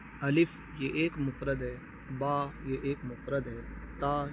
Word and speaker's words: ب: تلفظ سے پرہیز کریں، یعنی بے، تے، سے، خے، خے، توئیں، زوئیں وغیرہ ہرگز نہ پڑھیں، بلکہ با، تا، سا، شا، خا، قا، ظا پڑھیں۔ یہ اردو طریقہ ہے،